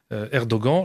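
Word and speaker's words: Erdoğan: turquie donc le président erdogan lors moi je prononce à la française chacun fera comme il est à noter que c'est ainsi maintenant les journalistes commencent à prononcer à la turque 1ère doan oui mais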